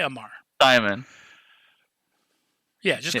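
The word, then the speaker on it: Aumar: How do you pronounce that last name? I'm going to say Amar. Omar? Amar? Amar? Yeah, just say Amar.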